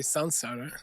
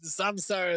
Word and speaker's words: samsara: las reglas del sánscrito, before S, an M changes to an N. antes de una S, una M cambia por una N. So we should say Sansara.